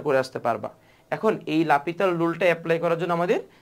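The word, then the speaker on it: L'Hôpital: করতে পারি রুলসটা হচ্ছে লাপিতাল রুল লাপিতাল রুল কে লিখা হয় এল হসপিটাল রুল আর কি বুঝছো উচ্চারণটা হচ্ছে লাপিতাল সো এই এল হসপিটাল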